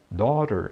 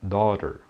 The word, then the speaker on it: daughter: Daughter em inglês é filha. E tem esse AU aí. Então a pronúncia é daughter, daughter.